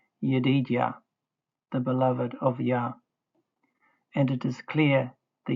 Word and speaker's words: Yah: The dot in the hay is a mapique which shows the hay as a consonant to be pronounced.